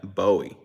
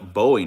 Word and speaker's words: Bowie: back in the day, I used to say Bowie, because it's pronounced like a Bowie knife, but it's Bowie. They say Bowie, Texas.